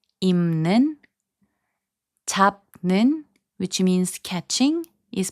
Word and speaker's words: 입는: So 입는, which means wearing, is pronounced as 입는.